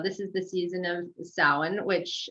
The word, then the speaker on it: Samhain: So this is the season of Samhain, which it's pronounced Samhain or Samhain, depending on whether you're Scottish or Irish.